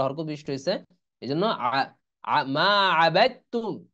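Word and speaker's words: ما عبدتم: এই জন্য মা আবাদতুম, এই দাল উচ্চারণ আসতেছে না।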